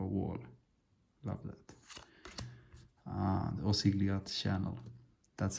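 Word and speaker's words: Osgiliath: image of a wall love that uh the osigliat channel that's how you say it don't you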